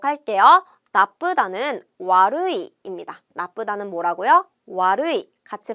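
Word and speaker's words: 悪い: 않았어요 한번 보도록 할게요 나쁘다는 루이입니다 나쁘다는 뭐라고요 와루이 같이 발음해 볼까요 와루이 다시 한번 루이 나쁘다는 와루이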